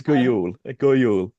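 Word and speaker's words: Jul: It's Guul.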